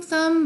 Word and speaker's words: thumb: 실제로 아예 안 나는 게 여기 존재하잖아요. 무음인 것들. climb, comb, thumb, bum. 이거는 아예 안 나는 거예요.